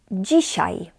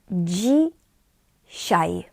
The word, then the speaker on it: dzisiaj: Today is dzisiaj. Dzisiaj. Dzisiaj. DZI we pronounce as dzi.